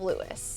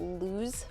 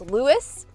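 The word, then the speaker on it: Lewes: said the town of Lewis. Everybody said the town of Louis, which is spelled L E Wes. They got really upset if people call it LSE. Yes. So don't call LSE. It's Lewis.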